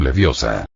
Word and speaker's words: Leviosa: y lo pronunciaste mal es Levi o sa no levio sa Cuéntame tus secretos e